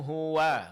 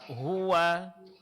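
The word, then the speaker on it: هُوَ: pertama, qul hua hua di sini huruf wa fatha baris atasnya itu disempurnakan caranya dengan buka kedua bibirnya. Coba Pak Hua.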